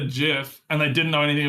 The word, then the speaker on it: GIF: he called it um he called it JF with a soft G choosy developers he reportedly